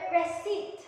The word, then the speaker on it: receipt: sa spelling nila, but this P is pronounced silently. Alright? Let's have the first word. We have the word raspberry. Raspberry. Then we have the word receipt.